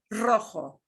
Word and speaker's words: rojo: r yeah okay now if a single r is the first one of our word it's still going to sound like that strongly trill double r so we get rojo red we get the